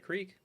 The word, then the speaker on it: creek: it i call it i call it crick instead of creek yeah that's that's pretty